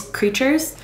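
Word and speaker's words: Kreeturez: like this can be the Instagram store is creatures but it's spelled k-r-e-e-t-u-r-e-z amazing I've purchased a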